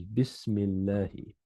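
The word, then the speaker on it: بسم الله: So the way you pronounce it is Bismillahi. It's Bi ismi Allahi.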